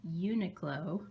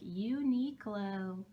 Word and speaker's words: Uniqlo: This turtleneck is from Uniqlo, which Patty informed me is how it's pronounced. So sorry about that Christmas vlog where I was all like, Uniqlo.